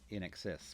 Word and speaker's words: INXS: there Shabu Shabah um had a sticker on it saying pronounced in excess SP right you had